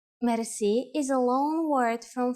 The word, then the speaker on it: merci: you will be amazed which word that is merci merci merci is a lone word from french but it is pronounced with the typical bulgarian heart r it